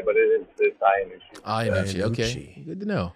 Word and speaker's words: Iannucci: What's the correct way to say your last name? Iannucci. Iannucci. It's coming from, my friends always said Iannucci. You probably hear that a lot. Yeah. Yeah. It goes either way, but it is Iannucci.